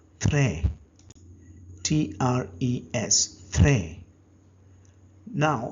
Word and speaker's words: très: Very in French is called très.